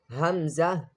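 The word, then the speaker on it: همزة: Then Hamza. Hamza. Hamza is also same like Ha, pronounced from the lower part of the throat, which is near to the chest.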